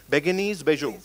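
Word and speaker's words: Bérénice Bejo: How do we pronounce the name of the actress? Beguinese. Beguinese Bejo. Beguinese. Yeah. Beguinese Bejo.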